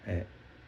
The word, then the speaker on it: へ: falaria R Tá mas quando se torna partícula pronúncia é e no mesmo caso